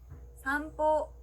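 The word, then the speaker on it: 散歩: 동그라미가 붙어있기 때문에 보라고 발음합니다. 써주실 때는요. 어렵지 않게 보에 붙여주시면 되고요. 자, 보가 들어가는 일본어 단어 산보, 산책이라는 단어가 있습니다.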